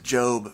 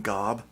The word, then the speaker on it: GOB: one of the characters his name is job but it's spelled go o so people call him Gob when they just read it which is I